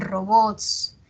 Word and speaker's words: robots: Por ejemplo, en robots. Es aguda, miren, es aguda, ¿no? Robots. No decimos robots, sino robots, snobs.